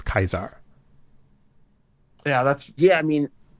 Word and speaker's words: Caesar: So the English Caesar developed later as Latin evolved and borrowed words into Germanic languages. So Lucia is clearly wrong about the Roman pronunciation of Kaiser. But she's only going by what she was taught. But that to me that begs the question, if the Legion are Lucy's contemporaries, not time travelers, then who taught them the accurate way to pronounce Kaisar?